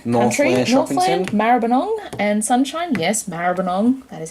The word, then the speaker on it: Maribyrnong: region of the mantra Maribyrnong and sunshine yes Maribyrnong that is how you say it for anyone